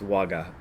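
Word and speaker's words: 我: They are jiko and ware. And the word ware can often be pronounced waga.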